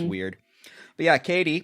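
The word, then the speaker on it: Cady: because everyone's like yeah your name's caddy and she's like oh no it's Katie like that's that I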